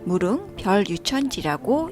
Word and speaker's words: 무릉별유천지: 가이드분께서 무릉 별 유천지라고 읽힌다고 하셨거든요. 속세를 떠난 별천지라는 뜻이래요.